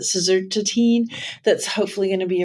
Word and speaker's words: suvorexant: Baruchy's been talking to me about you have to pronounce it suvorexant, that's hopefully going to be approved today.